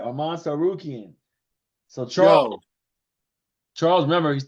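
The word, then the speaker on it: Arman Tsarukyan: Arman Sarukian. Sarukian, right? Arman Sarukian.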